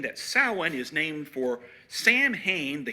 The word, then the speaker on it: Samhain: It's pronounced Samhain because in Irish, MH is a W sound.